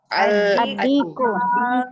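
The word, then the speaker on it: الديك: Adiku. Adiku. Bacanya gini, Bu. Adiku ya, Bu ya. Adiku. Jadi alif lamnya nggak dibaca.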